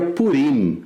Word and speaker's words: Purim: ou por fim é sempre o grande problema do ponto de vista linguístico por ista seria purim mas a hegemonia acho que nas vivem seu e como as que nascem pronunciam as coisas como paroxítonas então virou pudim E